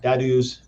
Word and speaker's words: DADUs: towards what we call Dadus and ADUs. Dadus ADUs is kind of how it's said.